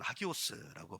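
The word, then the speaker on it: ἅγιος: 반복적으로 들었잖아요 성도라는 개념 히브리어로는 코데쉬 아고 발음하고 헬라어로는 하기오스고 발음하는이 성도의에 뜻 여러분 기억하시죠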